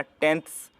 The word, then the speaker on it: tenths: TENTHS यानी था का प्रोनाउंसिएशन होगा। तो जहाँ पर टेंस था उसी में n के बाद TH लग गया, टेंथ्स।